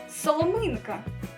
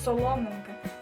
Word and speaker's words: соломинка: у нас з вами буде соломинка наголос ставиться на літеру И ми з вами не кажемо соломинка ось наприклад в мене в